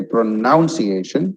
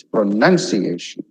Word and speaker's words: pronunciation: You don't say pronunciation, it's pronunciation. Okay.